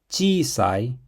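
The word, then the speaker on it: ちいさい: The word chiisai means small. Let's write it. So it's chi, I, sa, I. Chiisai. Make sure you prolong the vowel so it's pronounced chiisai and not chiisai.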